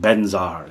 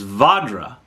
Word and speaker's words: Vajra: interested in knowing that you're saying it wrong, that the Sanskrit is Vajra, or it could be any number of mispronunciations, right?"